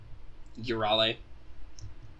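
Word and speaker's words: Euryale: Which is pretty close, because, yes, that is, which was mentioned before, the Greek thing is you want to pronounce all your vowels.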